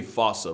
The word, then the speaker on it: fossa: to it's spelling I'm pretty sure it's actually fossa but the day I pronounced it like that is the day I lay my childhood to rest the Foos is pretty